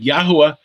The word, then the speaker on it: Yahuwah: But Yahuwah is, we believe, the correct pronunciation of the sacred name.